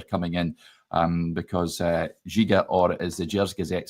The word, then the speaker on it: Djiga: But a guy like that I think an experienced defender coming in um because uh Jiga or as the Jers Gazette says it's pronounced Jia. So there you go. Gia and the Fernandez.